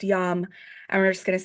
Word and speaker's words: Yam: heart chakra which is spelled like yams but it's pronounced yum and we're just going to say it three times yum y y